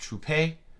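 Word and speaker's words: Trouppe: career that was Quincy troop I believe his name was originally pronounced trupe and he changed it this is a rare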